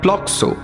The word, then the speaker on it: প্লক্ষ: নামকরণ হয়েছিল প্লক্ষ তাই থেকে বাঙালি অবাঙালি নির্বিশেষে উচ্চারণ করে প্লক্সো সামান্য অপভ্রংশে পুলকে বাবা অবশ্য পুলকেশী বললে বকাবকি